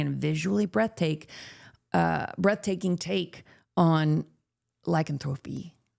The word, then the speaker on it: lycanthropy: I always say that word wrong. Did I say it right? Lycanthropy. In my song, My Pet Werewolf, I'm always singing that line wrong. There's a little trivia. Lycanthropy, trip to the vet. I say tropy.